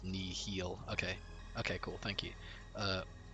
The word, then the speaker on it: Nihil: Nihil is pronounced nihil.